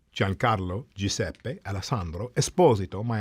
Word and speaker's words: Esposito: For many years, I pronounced my name Espazito and I grew up with um you know the Espazito brothers who were hockey players. So, I understood that to be the pronunciation.